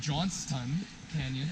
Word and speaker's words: Johnston Canyon: There's a sign of Johnston Canyon, as I've been pronouncing it wrong my whole life. Johnston's Canyon. Yeah, so I just pronounced it correctly. No, there's no S.